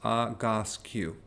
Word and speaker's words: Egoscue: And it's called the Egoscue method, okay? So and I wrote down the pronunciation because it's a little hard to pronounce, Egoscue, okay?